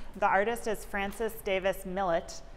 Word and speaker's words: Millet: The artist is Francis Davis Millet, not pronounced Millet as I originally thought, who went by Frank, an American painter.